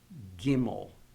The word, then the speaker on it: gimel: and also notice that when you pronounce these names the accidents always going to be on the first syllable Olive gimel okay so let me